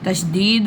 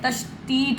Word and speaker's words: तशदीद: कुछ लोग कहते हैं तशतीत होती है। तशतीत नहीं होती है। पहले आप उसको जो है प्रोनाउंस करना सीख लें। मैं आपको बता रहा हूं ताकि कोई आपकी मजाक ना उड़ाए। तशतीत नहीं होती। लास्ट में ती यानी ता नहीं होता। तशदीद तशदीद ऐसे नहीं तशदीद ऐसे नहीं है टी नहीं आ रही है यहां डी आ रही है तशदीद ठीक और